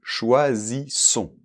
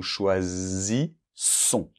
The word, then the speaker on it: choisissons: C'est nous choisis, comme la mouche, là, bzz, c'est un S sonore. Et après, comme il y a deux S, ça va être un S sourd. Nous choisissons.